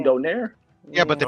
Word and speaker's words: Donaire: No, ain't his name Nonito Donaire? His last name Donaire. Yeah, but they pronounce it Donaire.